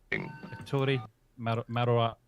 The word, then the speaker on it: Ettore Majorana: It's a guy called, now, excuse my pronunciation, Ettore Majorana. I'll pronounce that right? I'm not sure if I have. Ettore Majorana, probably pronounced Majorana, something like that. Does that sound right, Paul? Yeah, that's right.